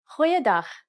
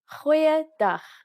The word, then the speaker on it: goeiedag: Goeiedag, ek is Annemarie Luck. Aangename kennis. Let's try that again. G. Try pronouncing it from the back of your throat.